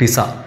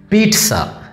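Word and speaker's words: pizza: നമ്മൾ പറയും പിസ്സ, പിസ്സ ഹട്ടിൽ, ഔഫ് yummy delicious പിസ്സ, നമ്മളെപ്പോഴും പറയും.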